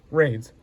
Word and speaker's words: Raynes: I have a My last name is spelled R A Y N E S Rains.